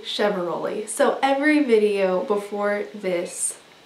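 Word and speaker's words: Chiavaroli: It is Heidi Chevaroli.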